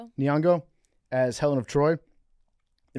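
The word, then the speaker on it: Nyong'o: Nongo. Niongo as Helen of Troy.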